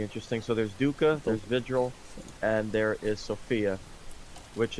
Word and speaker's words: Vigil: The three new operators are Virgil, I believe, Sophia, Say Virgil. isn't it? What is it? How do you pronounce it? It's Vigil?